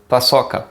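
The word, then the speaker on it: paçoca: so the name is pasoka again this sea thing and we say like two s's double s so pasoka and that's it for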